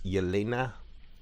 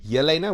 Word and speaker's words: Yelena: doors where she meets elena did you want to correct the pronunciation there i i i i stuffed myself i was like not millennia yelena with a y there's a there's a